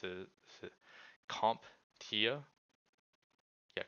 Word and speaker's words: CompTIA: Also made me look into, I don't know how to pronounce it. Is it CompTIA? Yeah, CompTIA.